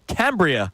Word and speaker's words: Cambria: We'll be at the Cambria Hotel, Philadelphia.